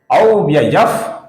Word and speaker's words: अव्ययः: तो संस्कृत के नियमों के अनुसार जब विसर्ग के आगे प अक्षर आता है तो विसर्ग का उच्चारण फ इस प्रकार होता है। बहुत ही हल्का सा फ रहता है, जो बहुत ही कम सुनाई देगा।